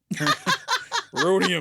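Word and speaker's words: rhodium: Rodium. The H is silent.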